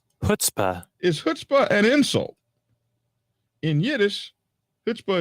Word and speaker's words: chutzpah: How is it pronounced? Chutzpah.